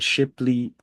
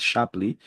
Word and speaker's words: Shapley: have the idea of a shiply a Shar I think it's better pronounced sharply we have the sharply